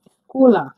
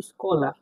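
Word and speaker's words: школа: এটাকে বলা হচ্ছে জেড এর মত উচ্চারণ। জ। কিন্তু এটা উচ্চারণ হবে এস এইচ। স এর মত। ইংরেজি বর্ণমালা স এর মত উচ্চারণ হবে। তাহলে উচ্চ বর্ণ সের মত উচ্চারণ হলে এটা উচ্চারণ আমরা উদাহরণ দেখে নিব। তাহলে বসারের মত উচ্চারণ কেমনে হয়? দেখুন স্কলা। স্কলা মানে স্কুল। স্কলা মানে স্কুল। দেখুন এস এইচ কে ও এল এ স্কলা।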